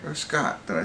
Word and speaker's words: Scoot: Or Scott, did I say the first time? Anyway, it's Scoot. And the reason I bring it up, he's actually the main character. Scoot McNairy is the traveling salesman who, you know,